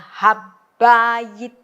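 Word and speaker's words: הַבַּיִת: Karena B-nya ini ada di tengah-tengah, maka dia strong dages. Maka ini membacanya habayit.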